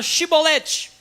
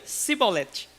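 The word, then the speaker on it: shibboleth: ele diziam sou Então pronuncia a palavra shiboleth aí eu lembrei o negócio do Uber lá no galho aí o zé Fini tá não sabia chamar a palavra shiboleth eles fazia cebolete não conseguiu pronunciar chevrolete E aí era degolado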